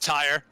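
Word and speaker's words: Tyerr: human named human oh tyr t-y-e-r-r it's pronounced tire this is the guard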